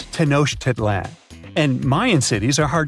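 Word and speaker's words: Tenochtitlan: It's Tanosh Titlan. And Mayan cities are hard to pronounce too.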